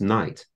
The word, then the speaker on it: knight: being pronounced very differently you had a word like Knight k-n-i-g-h-t used to be pronounced and suddenly it was being pronounced night but this happens when